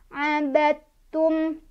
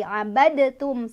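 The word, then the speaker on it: عبدتم: Ini ketemu sama hukum idgham mutajanisen. Sebabnya karena ada dal sukun bertemu dengan huruf ta, ya. Cara bacanya adalah qalqalah di huruf dal sudah tidak dibaca lagi ya. Jadi enggak baca lagi abadtum, salah.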